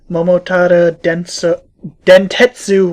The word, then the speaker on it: Momotaro Dentetsu: So the name is pronounced Momotaro Dentetsu World.